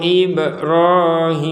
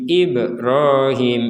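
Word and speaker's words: إبراهيم: ini memang dibacanya ibr Ibrahim itu pun memantulkan huruf yang memang huruf yang memang harus dipantulkan itu bukan mengucapkan huruf e misalkan ib ib ib ro IB ro tidak ada b bukan Be Ya itu jadi itu namanya memberi harakat e pada huruf ba huruf ba kemudian Hamzah IB ro IB ro itu kan ee memberi harakat e jadi pantulan itu sekedar pantulan tidak sampai ke e ya ib ib seperti itu saja waid yarfau ibrahimul qawaida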